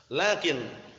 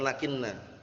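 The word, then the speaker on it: لكنْ: Lakin lil istidrak sudah kita lewati dulu ya, mirip dengan lakinna, akhwatnya siapa? Inna. Tapi ini lakin bacanya, bukan lakinna.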